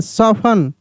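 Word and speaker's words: soften: E castle S ओ एफ टी ई एन सफन एफ ए एस टी ई N Hasan C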